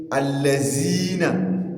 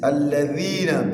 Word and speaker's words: الذين: Then the, not za. Don't say allazina. It is alladhina. Bring out the tip of your tongue while pronouncing that harf.